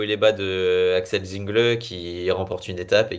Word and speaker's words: Zingle: C'est pas Axel Zingle, c'est Axel Zingl.